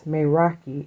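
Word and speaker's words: meraki: So, it's the word is maki and it's called and it's spelled m e r a k i.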